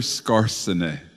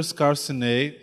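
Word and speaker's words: Skarsaune: artigo clássico, by Oscar Scarsene. o Oscar Scarsene. Remember that one? Lembra We desse? try to say it like Norwegian, just like he says it.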